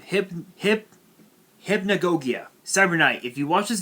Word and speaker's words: Hypnagogia: mirror fantasy dreamer hypnagogi hypnagogia hip hip hypnagogia cybernite if you watch this video it's pronounced hypna gogia that's how it's pronounced actually you know what